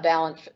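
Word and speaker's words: Balint: other question that came up is about the balance system let me spell that for you it's b-a-l-i-n-t balance is a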